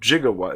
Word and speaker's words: gigawatt: it in the script so jigawa is actually supposed to be gigawhat a million watts i wish it was that